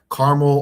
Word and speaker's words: Carmel: There's a 2-syllable way and there's a 3-syllable way.